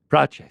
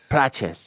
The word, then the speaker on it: Prates: Prates. Prates.